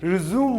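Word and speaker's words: résumé: अब बात आती है जब आप सीवी की बात करते हैं, करिकुलम विटे की बात करते हैं, तो यहां पर इसे आप प्रोनाउंस करेंगे रेज्यूमे, रेज्यूमे।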